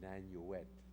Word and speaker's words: Nanuet: It's the Gunskirchen Lager subcamp of Mauthausen, and I live in Nanuet. No one pronounces that town right either.